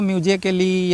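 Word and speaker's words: musically: है म्यूजिकली लिखा है ए के बाद डबल एल वाई आया है तो ए क्या है साइलेंट है इसको म्यूजिकली या म्यूजिकली या आप इसको जो है ए को प्रोनाउंस नहीं करेंगे इसको म्यूजिक म्यूजिकली बोलना है डायरेक्ट म्यूजिकली ठीक ठीक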